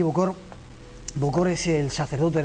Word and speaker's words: bokor: Miguel, ¿qué es a ver si lo pronuncio bien, Oungan y un Bokor? Ungam y Bokor.